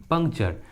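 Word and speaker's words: puncture: च पढ़ते हैं, इसलिए यहाँ पर टी का उच्चारण च हुआ है। Mature and Overture. उसी तरह नेचर, पंक्चर, देखिए दोनों इंग्लिश वर्ड्स में टी के बाद क्या है, यू आर ई।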